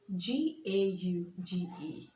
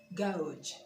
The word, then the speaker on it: gauge: GAUGE. Gauge. Gauge. And not gouge or whatever it is called.